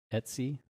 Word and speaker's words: etc: type sudu Bim SL Etsy SL paths Etc is pronounced Etsy in the Linux c community next hit enter and